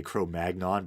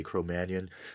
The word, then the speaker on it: Cro-Magnon: Mannion yes CRO Mannion when I was growing up they used to say cro-magnon but now they say CRO Mannion I think it's French pronunciation you know at the